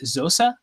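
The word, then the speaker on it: Xhosa: do i pronounce it is it zosa like closer tradition is that where like a clicking sound yeah it's a clicking language it's nelson mandela's language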